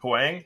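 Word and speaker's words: Huyang: I had to go Professor who I uh Huang am I saying it right Huang Huang yeah um but I really I really thought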